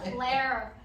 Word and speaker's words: Claire: I'm like, "Claire." In Australia, I would say Claire, because that's how we say it, Claire, but I have to say Claire. And so with the R, it's overpronounced.